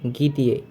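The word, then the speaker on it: где: প্রথম অ্যালফাবেটটি হচ্ছে গিয়ে। দ্বিতীয়টি দে। তৃতীয়টি ইয়ে। মানে গি দিয়ে। উচ্চারণটি হবে গি দিয়ে।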